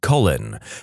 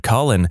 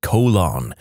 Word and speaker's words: Colin: with a kid named Colin and our physics teacher constantly pronounced it colon like how many times does he have to correct you lady in France there